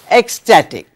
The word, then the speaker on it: ecstatic: say he was ecstatic now note the spelling of ecstatic x say it as you see it ex static static ecstatic thrilled so instead of